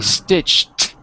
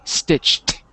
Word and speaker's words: stitched: So the word stitch in the past would be stitched, like a T, stitched.